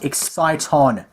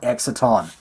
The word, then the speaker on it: exciton: got an exciton and it's pronounced exciton people not exaton exciton is a real